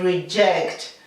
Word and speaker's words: reject: The J, we have to pronounce the J as if it were CH, reject.